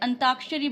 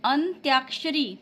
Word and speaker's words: अंत्याक्षरी: फिर देखिए हम क्या बोलते हैं? अंताक्षरी बोलते हैं। लेकिन लिखा क्या जाता है? अंत्याक्षरी। अंताक्षरी हम लोग जब ऐसे आम चाल आम बोलचाल में कैसे बोलते हैं? अंताक्षरी बोलते हैं ना। लेकिन नहीं अब हमें शुद्ध बोलना है। अंत अंत्याक्षरी।